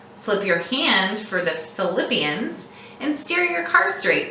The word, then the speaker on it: Philippians: Since Philippians sounds like the word flip your hand from palm up to palm down to help you remember Philippians.